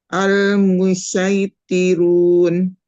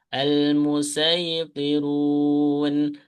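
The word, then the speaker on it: المصيطرون: Nah, untuk yang tempat ketiga, ini bisa pakai sin, bisa pakai short gitu ya. Bisa pakai sin, bisa pakai short. Berarti dibacanya coba dipraktekannya dua kali. Al-Musaitirun.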